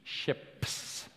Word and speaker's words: SHiPS: module called ships ships it's important to pronounce the P ships ships is the simplified